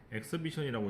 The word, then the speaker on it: exhibition: 엑스비션이라고 읽고 전시회라고 합니다.